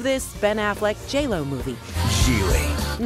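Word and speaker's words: Gigli: Gile. No, it was not pronounced giggly, but critics did say it was funny.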